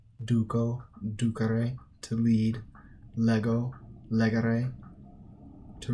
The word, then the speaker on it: ducere: Second conjugation has a long e in the infinitive, while third conjugation has a short e in the infinitive.